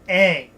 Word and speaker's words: Aang: Avatar Ong? No, I'm the Avatar Aang. Get the pronunciation right.